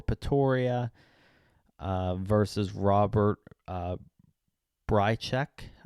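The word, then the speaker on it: Bryczek: uh versus Robert uh breek I believe is how you pronounce his name breek minus 200 a bit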